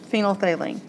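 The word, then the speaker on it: phenolphthalein: it's called phenol thaline I know it's spelled really weird it's really long it's got all these letters in it you're thinking what in the world but it's just phenol phine okay and then you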